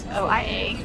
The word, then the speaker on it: Oia: We're in Oia, the one that's spelled O-I-A, it's pronounced Oia, and it's the one with the most quintessential views.